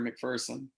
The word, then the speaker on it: McPherson: the old joke is a lot of people think McPherson is pronounce McPherson but they're running the running joke in this our hometown here is that there's no fear McPherson so it's McPherson that's good for you cuz McPherson coming from st.